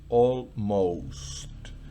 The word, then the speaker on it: almost: Fíjense que la primera O se pronuncia normal. Almost. La segunda tiene la rayita encima, entonces se pronuncia con su pronunciación original en inglés. O.